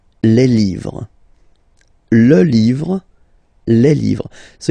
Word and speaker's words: livres: Les, and then same rule, you just write livre, and then you put S at the end, but then you don't pronounce it. Les livres, le livre, les livres.